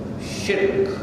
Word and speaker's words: shirk: Making haram what Allah made halal, and that is shirk. Notice how I pronounce the word, and you will pronounce it the same way. Shirk. It is one syllable, not two.